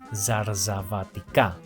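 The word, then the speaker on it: ζαρζαβατικά: C'est un de ces mots qui, si on le prononce correctement, donne immédiatement l'impression d'avoir un accent grec. Répétez après moi : Zarzavatika. Zarzavatika.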